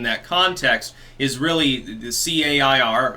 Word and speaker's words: CAIR: Her socio-political / religious ideology, they mesh together in that context, is really the CAIR, again I believe pronounced CARE, backing Hamas, does fund terrorism, backs Ilhan Omar, thinks she's great.